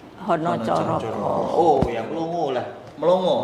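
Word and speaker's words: Hanacaraka: juga pakai tapi pakainya Hana Caraka lah. Padahal tulisannya di sini pun hana caraka. Iya cuma pengucapan. Tapi kalau kita yang bahasa yang Jawa Tengah Jawa Timur itu bacanya Honocoro.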